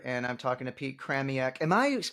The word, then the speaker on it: Chramiec: I'm talking to Pete kramiak am I pronouncing that right it's pretty close craniac craniac similar to Maniac craniacally similar yeah so